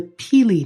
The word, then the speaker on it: pili: devote an episode to the peely nut and that's spelled p i l i and you know isn't